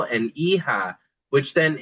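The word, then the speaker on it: hija: So we have e-ho and e-ha which then it's not written here but that really represents son and daughter.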